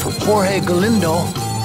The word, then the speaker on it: Jorge Galindo: Okay, well, I was informed by the gentleman at the reception desk that it's actually pronounced Jorge Galindo, and evidently Jorge and Julian have been friends